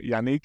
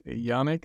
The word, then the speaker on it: Yannick: for noticing it's awesome now most most Americans like pronounce my name as Yanik because Nick is like very familiar name in America but yeah it's a French name so thanks for pronouncing it right my pleasure well uh